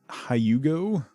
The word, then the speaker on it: Hugo: fancy art people bruce why is it hyugo when pronounced in english what's with the weird y sound i don't know hugo